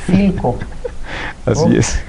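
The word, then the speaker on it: Philco: Oiga, ¿y cuánto cuesta esta televisión Pilco? Pues cuesta tanto y no se dice Pilco, se dice Filco.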